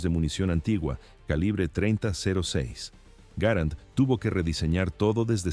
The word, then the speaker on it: Garand: Existe un debate eterno sobre su pronunciación. El nombre correcto es Garant por su diseñador. Sin embargo, muchos prefieren llamarlo Grand.